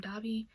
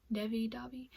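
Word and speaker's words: Devi: Pronounce her name Davi. Davi.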